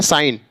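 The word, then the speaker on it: sign: hacker चफ ऐसे यहां एस आई जी एन जी जी के बाद एन है या के आगे जी है तो क्या हो जाएगा यहां पर जी साइलेंट हो जाएगा क्या हो जाएगा साइन ऐसे यहां रिजाइन ऐसे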